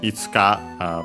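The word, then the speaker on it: いつ: This one is itsu accent on the uh first uh on the on the first mor.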